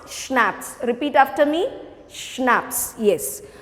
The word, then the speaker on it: schnapps: we have schnapps now this word is pronounced as schnapps i've mentioned this before also c is silent here so how you pronounce schnapps repeat after me schnapps